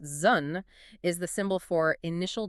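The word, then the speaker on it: 屯: And hexagram 3, which is pronounced Zhun, is the symbol for initial difficulty.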